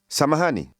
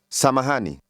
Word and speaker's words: samahani: Ni. Ha. Hani. Ma. Mahani. Sa. Samahani. Samahani.